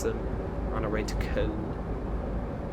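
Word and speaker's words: Köln: on our way to con. I know it's Cologne in English, but I just prefer to call it con because that's the local pronunciation.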